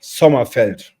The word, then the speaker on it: Sommerfeld: It's Sommerfeld. Sommerfeld. There we go. Yeah, you need to pronounce it harder and more ugly, because German sounds like Arabic, super hard, structured, like Sommerfeld.